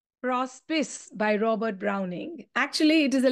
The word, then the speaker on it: Prospice: Prospice by Robert Browning. Actually, it is a Latin term, and in Latin, you pronounce it as prospice.